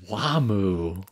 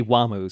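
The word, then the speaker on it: Wamuu: But they're using the normal names in the Japanese dub and they just say Wamu. So I think it might be just the Japanese pronunciation of it, maybe.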